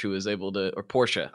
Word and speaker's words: Porsche: I always say Porsche, and I know that's not right. Yeah, it doesn't matter. In England, they say it like that, and we're supposed to say Porsche. I mean, that's a German pronunciation, but it doesn't matter.